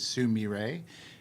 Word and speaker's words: Sumire: The way it's pronounced is Sumire.